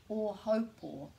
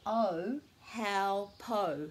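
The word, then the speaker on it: Ōhaupō: So a lot of people call that o haupō, so they're actually mispronouncing every single syllable. This is never o, this is always o, and this is ho, rhyming with mo, o haupō, o haupō.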